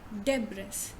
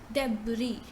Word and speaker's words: debris: word is this now how do we pronounce this word generally debres but in fact it is debris so you say there first day and then you say bri debris they bring right now